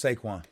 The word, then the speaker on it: Saquon: One word, 2 syllables. Saquon.